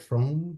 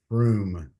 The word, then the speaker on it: Fromm: Fromm? Yep. Yep. Okay. I always pronounced it Froom before, maybe because your sports car is like fast, like room, zoom, zoom, Froom.